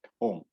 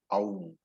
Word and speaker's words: Om: It is only Om, which is a single syllabled, alphabet, Om. And therefore, Sampradaya says that chanting Ma separately is incorrect. And I have seen several people, including advanced students, advanced teachers also, saying Aum.